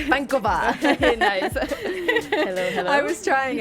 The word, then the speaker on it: Vankova: You guys, we all pronounce it Vankova, and it's not. It's Vankova.